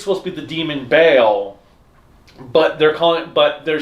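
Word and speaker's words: Vail: So, and then we have, the beginning of the new episode, Vale. It's Bale. See, that's the thing. So the problem is they're taking it phonetically.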